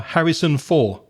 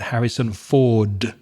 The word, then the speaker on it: Harrison Ford: a famous movie star, Harrison for. So again, she forgets that final consonant sound, the duh at the end. So not Harrison Ford, but Harrison Ford.